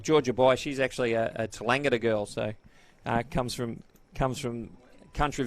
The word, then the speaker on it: Tallangatta: She's actually a Tallangatta girl, so comes from country Victoria. It's Tallangatta. I think Neil Macdonald struggled with that a little bit in the pronunciation from the first game.